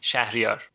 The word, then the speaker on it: Shahryar: So come on, tell us, how would you actually say your name if you were to say it in Persian, it would be Shahryar.